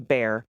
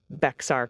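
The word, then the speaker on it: Bexar: All right, first up, we got a lot of corrections for mispronouncing bear as Beexar County with a hard X.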